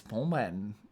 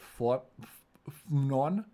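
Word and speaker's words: Phnom Penh: And the capital is pom pen. Pompen. I always try to pronounce it like fonen or something, but it's just pompen.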